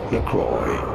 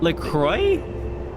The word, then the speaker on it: LaCroix: in the U.S this is said as McCoy LaCroix LaCroix there's no Y in there what do you want about from French but being an American brand it is to be said as Lacroix what's your favorite flavor let me know in